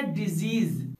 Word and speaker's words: disease: इसके पहले कि मैं कुछ एग्जांपल्स दूं, यहाँ मैं आपको बता दूं इन दोनों वर्ड का साउंड अलग अलग है। इस वर्ड का साउंड होता है डिजीज और इसका मीनिंग है